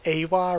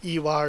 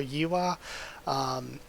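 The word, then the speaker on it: Ehwa: It was always E-H-W-A, which I didn't really like, because when I read that, my first instinct phonetically is to think Awa rather than Iwa or Yiwa.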